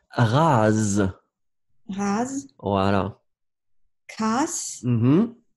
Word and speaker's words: rase: Alors, oui, ici, vous faites vraiment comme un z, z, z, z. Rase.